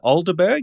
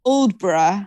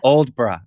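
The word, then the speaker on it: Aldeburgh: you go that's seaside town you mentioned is alderberg is that how it's pronounced uldbra old bra okay that was the australian pronunciation aldeburg yeah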